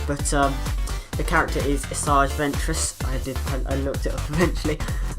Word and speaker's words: Asajj Ventress: take I had to check the pronunciation the pronunciation but the character is asajj ventress I looked it up eventually and if you